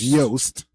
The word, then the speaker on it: Joost: It says it rhymes with toast. His first name, so it's Joost.